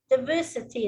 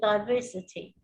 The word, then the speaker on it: diversity: yesterday who said diversity instead of diversity.